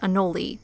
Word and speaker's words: anole: From what we've gathered, it's more appropriate to say Anole, but the other pronunciation is becoming more and more widespread, though